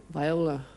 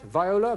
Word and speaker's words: viola: finger button going what V is pronounced in two ways one meaning stringed musical instrument the other a small flower yes David Viola that's right Viola Viola absolutely right and